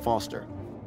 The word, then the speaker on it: Foster: I'm Foster. I'll remember that easy because your name rhymes with fossil and you're old.